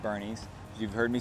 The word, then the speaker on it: Boerne: pronounce Bernie it's not born everybody says born it is not born it is Bernie like Weekend at Bernie's you've heard me say